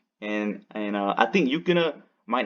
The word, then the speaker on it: Yukina: Yukina.